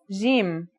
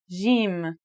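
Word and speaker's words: جيم: arabic and syrian arabic it should sound like the j in the word jam while in egyptian arabic it sounds like the g in the word game they're both quite easy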